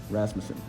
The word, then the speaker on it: Rasmussen: close as you can get I've had it butchered many different ways yeah Rasmussen yeah uh so uh so Blake uh we're here in Philadelphia uh at Magic 30.